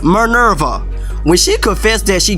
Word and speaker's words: Minerva: Like when Minerva, can I pronounce her name right? It's Minerva.